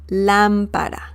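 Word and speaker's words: lámpara: is la lampara la lampara remember the accent mark on top of the letter a the first a right here and the pronunciation oops the pronunciation once again is la lampara la lampara okay so that is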